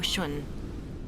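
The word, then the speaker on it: Sean: feel so dis are you all right Miss shun my name is Shaun this is the proper way to address someone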